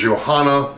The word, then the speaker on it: Johanna: Her name is Johanna. She goes by Yo-Yo. It's actually in English would be Joanna, but in German they don't pronounce the J's as J's. They pronounce them as Y's.